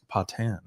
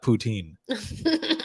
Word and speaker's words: Patan: wrong, and she goes, "It's Patan, Patan. not poutine, like the food."